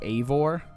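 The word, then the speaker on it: Eivor: but the main character's name is a voor that's how I've heard them pronounce it I do not know if that's the technical way to pronounce it but that is the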